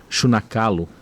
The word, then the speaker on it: Xunakalo: Povos e Organizações Indígenas de Mato Grosso, Chunacalo. Está certo a minha pronúncia?